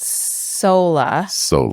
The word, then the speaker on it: Soula: found this thing called SOLA. Yeah. It looks like doula. It's spelled SOULA. Like doula with an S. Yes, but they pronounce it like soul.